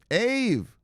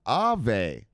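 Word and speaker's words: Aave: go look look sloppy eve ha ha just kidding brother this is actually pronounced ave ave sloppy showed me it's pronounced ave it's a finnish word it means ghost or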